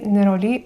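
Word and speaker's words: Néroli: рлен з бутикової колекції неролі утренуir на французькій манер називають неролі будемо так само вимовляти неролі утнуар - це ультрачорний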